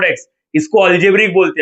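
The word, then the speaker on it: algebraic: ये याद रखना, एक्स रेस टू फाइव और फाइव रेस टू एक्स, इसको अल्जेब्रिक बोलते हैं। अल्जेब्रिक, अल्जेब्रिक, अल्जेब्रिक स्पेलिंग में देखा, अल्जेब्राइक लिखा है लेकिन अल्जेब्रिक बोलने का।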